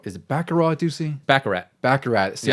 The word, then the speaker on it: Baccarat: There's 11 levels with a bunch of mini games like Baccarat. Is it Baccarat, Ducey? Baccarat. See, I always get confused if you had to pronounce the T or something like that.